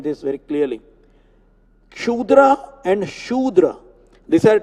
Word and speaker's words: Shudra: The pronunciation for that word is Shudra. It is not Kshudra.